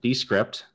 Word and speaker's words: Descript: Andrew Mason is the founder and CEO of Descript. I keep saying Descript, so I gotta pronounce the E's at the beginning.